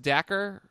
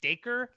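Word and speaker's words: Dacre: And is it pronounced Dacker Montgomery? I think it's pronounced the way Josh has been saying it is Daker, Daker with a D in front of it.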